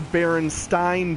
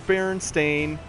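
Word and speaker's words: Berenstain: asking my mom hey are these the baron stein bears because it said s i n and she told me no it's Baron stain I asked why she said that's just how it's pronounced and so the fact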